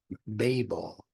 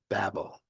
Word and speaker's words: Babel: Some pronounce it Babel, the Tower of Babel, but most will say Babel. Both are significant as pronunciations.